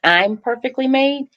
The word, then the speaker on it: ImperfeKtlymade: Let me say this, that the pronunciation for the foundation, it's I'm perfectly made.